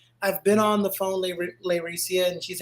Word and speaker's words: Layrecia: to call you later laricia I used to emphasize the lay so much that I thought I was saying it wrong but she was saying it right and then what then